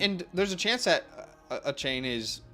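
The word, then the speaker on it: Achane: it came out that you're supposed to say it his pronounce his name Devon achain a chain yeah Deon a chain which why that sounds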